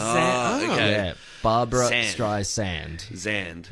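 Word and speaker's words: Streisand: mispronouncing it and it's they're saying Barb Barbara stri zand right instead of sand cuz it's spelled like sand like yeah barbar Barbara stri sand I can't hear that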